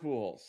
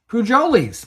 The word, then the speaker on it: Pujols: It is Albert Pujols. Pujolis, Mike. Pujolis. Yes. I don't think they pronounce the J. I'm not sure.